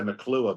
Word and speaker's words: McClure: Is that how you say it, Mclure? We say McClure, but I mean McClure to a. My wife's a Southerner and she says it like you do, so that's fine.